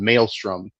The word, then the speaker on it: Mael'ström: our land is called Mael'ström, and so it's the mail room, but it's spelled like Maelstrom, like our land.